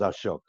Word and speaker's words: Ashok: hey stop this ash answer Kay's name is Ashok all right these guys in America can't pronounce a show can you believe that did